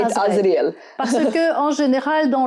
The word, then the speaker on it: Azrael: We say it Azrael.